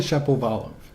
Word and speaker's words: Shapovalov: Well, I mean, to be fair, when he corrected everyone on the pronunciation, it was a very Canadian pronunciation of his own name. Apparently Shapovalov.